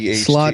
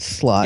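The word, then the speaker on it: slauga: no it's it's different it's s-l-a-u-g-a slot as in slaughter not slot as in you're a slot or s-l-o-t sloth like it's spelled more like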